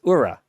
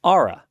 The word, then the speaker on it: Oura: And one of the things I believed was that the pronunciation of their company, O-U-R-A, was Ura. It's not. It's Aura, like A-U-R-A.